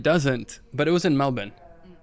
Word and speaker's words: Melbourne: but it was in Melbourne I used to pronounce it Melbourne but it's Melbourne Melbourne yeah I should know